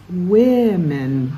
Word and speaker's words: women: and if it's spelled w-o-m-e-n it's women that oh first o sound sounds like it women woman for one women